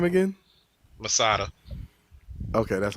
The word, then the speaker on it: Masada: you're between two people say that name again masada okay that's how you say it okay i